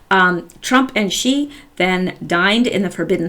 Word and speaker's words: Xi: think X I in in Mandarin is some pronounced XI I believe Trump and she then dined in the